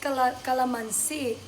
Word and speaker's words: calamansi: In Tagalog, that's calamansi. Oh. But, in our language here, limoncito. It's just like a Spanish word. Oh. Limoncito. Yeah. But that's calamansi in Tagalog.